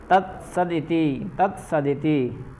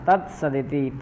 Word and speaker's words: तत्सदिति: तत्सदिति, ठीक, तत् अलग कर दीजिए, सदिति अलग कर दीजिए, तत्सदिति है ना, तत्सदिति, तत्सत इति ऐसा है।